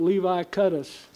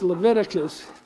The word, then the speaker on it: Leviticus: let's see somebody said they pronounced that levi cut us and i said i think it's leviticus so levi cut i